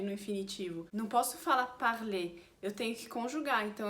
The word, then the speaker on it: parler: Todos esses verbos de primeiro grupo terminam com ER e a gente no infinitivo fala E no final, porque ER é o som de E em francês. Então, por exemplo, parler termina com ER e a gente fala E parler quando tiver no infinitivo.